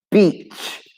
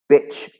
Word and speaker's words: beach: Anyway, the pronunciation of beach, when you lie on the beach, the sand, the sea, is beach. And you get your mouth like this. Beach. Okay? Not bitch.